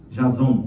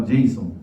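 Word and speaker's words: Jasom: Invadiram a casa de Jason, eu quero falar Jason, mas em português tem que pronunciar Jason.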